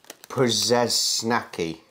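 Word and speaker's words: Przysnacki: If it is a RZ, you don't really pronounce the R. So it's more like a Przesnacki.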